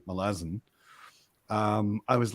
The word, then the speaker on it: Malazan: is things from melas so pronouncing it Malazan is like pronouncing it American I'm pronouncing it Malazan would be like pronouncing it American or Canadian or Australian um so once I realized that because I heard Stephen Erickson say melasin um I was like